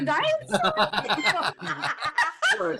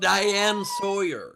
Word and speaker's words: Diane Sawyer: Oh, I think the Diane Sure, no involvement. That was her worst mispronunciation yet. It's pronounced Diane Sawyer.